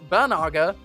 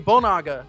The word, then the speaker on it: Bonaga: While Bonaga is commonly mispronounced Banaga, the real name is actually Bonaga, the same way Bongolia isn't Bongolia.